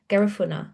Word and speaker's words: Garifuna: Garifuna.